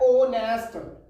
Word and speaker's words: honest: का यूज हुआ है, क्योंकि इसका प्रोनाउंसिएशन होता है ऑनेस्ट, ही इज एन ऑनेस्ट बॉय।